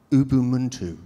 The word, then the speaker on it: Ubuntu: Because I come from Cornwall, and it's Ubuntu, but you don't pronounce the T.